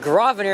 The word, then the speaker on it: Grosvenor: Connecting with Grosvenor, and that's the correct way to pronounce it. The S is silent.